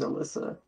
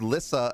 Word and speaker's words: Lissa: Oh, they think your name's Alyssa. Yeah. Yeah. Also, thanks for the hydrate. Yeah, my name is not spelled with the A. It is Lissa as you spelled it. Just take off the A.